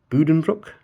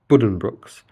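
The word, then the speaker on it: Buddenbrooks: for it, but uh Budenbrook as I believe it's pronounced. Uh not Budenbrooks. I think Budenbrooks is a from what I've seen potentially uh like a very anglicized pronunciation of it, but it's bu it's a boo sound rather than a B.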